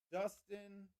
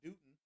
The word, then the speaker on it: Dustin: So we're going Kale, Dustin, not Dutton, Dustin, Kale, and Tractor.